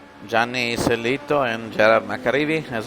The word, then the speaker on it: Gianni: Gianni is the diminutive for Giovanni, by the way. Somebody was asking me why I pronounce it differently from the way it's spelled. Well, it's the diminutive, as I was saying.